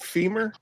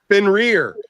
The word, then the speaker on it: Fenrir: Fenrir. Fin as in like a fish. Fin and then rear as you can kiss my ass.